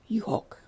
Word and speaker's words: juhok: So one sheep is a U with a silent H, and when you add the OK, you can then pronounce the H, so juhok.